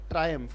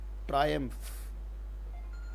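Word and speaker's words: triumph: ट्रायम्फ महसूस करना, इसका उच्चारण क्या है, ट्रायम्फ, ट्रायम्फ, ये फ है।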